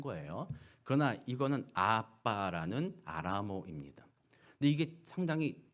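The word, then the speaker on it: abba: 주실 때 아바라는 사실은 아바가 아니라 원래 발음이 아빠예요 아빠 이게 아람어 아람어 그 a BBA 이게 원래 아람스 아빠예요 우리가 하는 한국말과 똑같아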